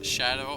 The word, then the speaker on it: SHDW: Red Terran, allied with SHDW, which we think is going to be pronounced Shadow, so we're going to be calling him Shadow, and he is the Blue Zerg.